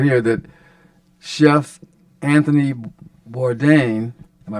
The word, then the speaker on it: Bourdain: I gotta say right here that Chef Anthony Bourdain am I pronouncing that right yes yeah uh he tells